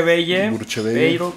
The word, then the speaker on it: Bruchevelle: lío con eso este se escribe bruche bello pero se escribe se pronuncia Bell sin la última o como si sonara la última él así se pronuncia Okay